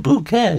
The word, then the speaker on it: Bucket: I know it says bucket. If you've never seen the program, it's a British program. Quite some time ago, a very snooty lady called Hyacinth Bucket, but she said it's pronounced bouquet, you know.